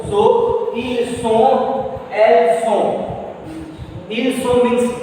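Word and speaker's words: sont: So who act, then night with ill, S-O-N-T. it's song. Il song. Why song? Because where I wrote O-N, nasal vowel sound O. So il song, el song.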